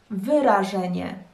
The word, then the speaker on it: wyrażenie: Wrażenie, wrażenie, wyrażenie, wyrażenie. Wrażenie, wyrażenie. So first one, three syllables. The second one, four syllables.